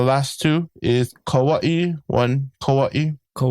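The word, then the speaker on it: Kauaʻi: So just make sure you pronounce that Okina A very strongly. Oahu. The last two is Kawaii. One Kauaii. Kauaii. Yeah. And some people call it Kawaii.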